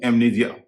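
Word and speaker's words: amnesia: ऐसे ही एक और शब्द है एमनीजिया। एमनीजिया मतलब याददाश्त खो देना। एमनीजिया में भी एम के बाद एन है। एन के बाद इ है और उसका उच्चारण हो रहा है।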